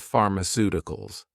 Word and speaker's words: pharmaceuticals: You may realize that for words ending in ical, the stress normally falls on the syllable before ical, i.e., the third to last syllable in the word.